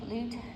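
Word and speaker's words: Lugt: Sonja, can you pronounce that word for me, please? L-U-G-T, L-U-G-T, Lut, L-U-G-T-T, Lut, yeah, prints.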